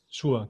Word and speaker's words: Shure: Webcam-Mikrofon und im Vergleich dazu vielleicht dieses, wie spricht man das aus, Shure oder Shure? Shure, genau.